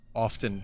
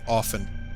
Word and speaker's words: often: my my save so did anyone else hear about the silent tea and often is that just like was someone bullshitting me was one of my teachers like a Nutter what what happened I can't be the only one who was taught not to say often but to say often